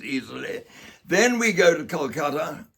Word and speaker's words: Kolkata: Then we go to Kolkata, or Kolkata, get his pronunciation right, to Eden Gardens, where